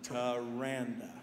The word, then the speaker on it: Taranda: but Tim and I, we've how do you pronounce her name? Her name is, say it with me, Taranda.